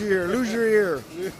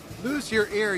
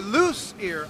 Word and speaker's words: Luzier: And you say lose ear, even though it's Z-I-E-R, which is like brazier, lose ear. Or loose ear.